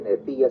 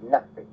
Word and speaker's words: Nefi: Y no se dice Nefía, sino se dice Nafe.